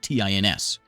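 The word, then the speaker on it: Tairns: up lives over here tins but it's not spelled like t i ns it's t a i r NS tins okay so now Prosperity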